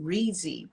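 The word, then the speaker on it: Reedsy: an independent author is um this place called reezy is spelled r-e-e-d-s-y and breezy vets different writing services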